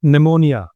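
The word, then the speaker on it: pneumonia: you getting my point जैसे निमोनिया तो पी एन ई पी एन ई मो एम ओ पी एन ई एम ओ निमो नहीं एनआई इस तरह से साइकेट्री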